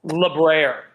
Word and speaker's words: Les Brers: While y'all are looking into that, how do you pronounce? Is it Les Brers? Lebraire.